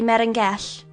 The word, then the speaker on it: Melangell: To this, the prince in admiration replied, "O most worthy Merengell," which is the way that the Welsh pronounce Monacella, "because, on account of